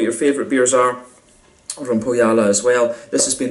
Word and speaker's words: Põhjala: But yeah, really like how this one goes together, and it's another thumbs up from me for Põhjala once again.